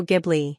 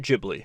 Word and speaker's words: Ghibli: And yes, I'm going to be pronouncing it as Ghibli the whole time. Studio Gibli. I've heard it both ways. And I think it's funner to call it Jibli.